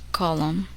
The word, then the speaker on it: column: The letter N is silent in the following words. Listen and repeat each word after the speaker. Autumn, column, hymn.